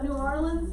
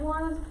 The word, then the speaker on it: New Orleans: Now, some people pronounce it New Orleans. That's not how we say it at all. So New Orleans is how we say it.